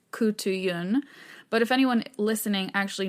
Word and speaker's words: Khutulun: the wrestler princess so according to my research what seems to be the most accurate pronunciation of her name is koutu Yun but if anyone listening